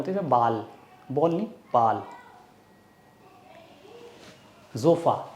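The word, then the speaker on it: Sofa: जोफ़ा, एस को buzzing sound आती है, जोफ़ा।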